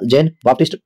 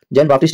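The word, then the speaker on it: Jean-Baptiste: तो ये कौन था जैन बाप्टिस्ट टवेरनियर जैन बाप्टिस्ट या जीन बाप्टिस्ट टवेरनियर द करेक्ट प्रोनाउंस ऑर्डर मुस्लिम इन्वेडर तो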